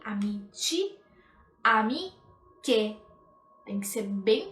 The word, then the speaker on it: amici: Atenção sempre à pronúncia, amici, com i, amici, amiche.